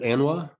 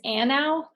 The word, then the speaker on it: ANAW: Is it ANWA? Yeah, it took me a little while. I just started the position in July. It's ANAW. ANAW. Okay. ANAW. Like a ANAW, a short A at the front.